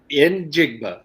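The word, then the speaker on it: Njigba: can make fun of in jigba in jigma in jigba yes all right okay so you say that you say the letter n and then okay there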